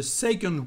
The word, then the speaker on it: second: actually we've got a second word to say second in French. This is the word second. And pay attention to the weird pronunciation, because the letter C is said like a G in French.